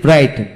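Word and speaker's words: bright: যেমন ব্রাইট, বি আর আই জিএসটি, ব্রাইট। এখানে জিএস উচ্চারণ হয় না।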